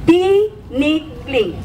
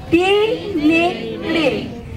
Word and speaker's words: Tinikling: Pronounced as T as in green tea, Nick as in Nick in snake, and Ling as in Ling in slingshot. Tinikling. Let us say it together. Tinikling.